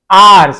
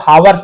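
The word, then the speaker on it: hours: अ फ्यू यानी कुछ, आवर्स इसे बहुत सारे हावर्स बोल देते हैं, गलत है, आवर्स पढ़ते हैं, साइलेंट होता है, आवर्स यानी घंटे, लेटर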